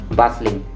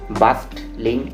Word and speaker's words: bustling: has become silent that is why it's pronounced as bustling not bust link at all well let's move forward